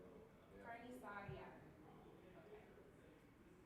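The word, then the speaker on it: carnicería: Carniceria, yeah, it's hard to say though. Yeah. Carniceria. Okay. It says rhymes with Maria.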